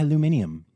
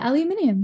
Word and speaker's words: aluminium: Aluminum, or as you would Yeah. say, aluminium. Yeah, aluminium. Yeah, which is actually Correct. how it's spelled.